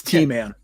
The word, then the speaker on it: T-Man: is it or TM? Because I maybe I've been saying it wrong all this time. It's T-Man.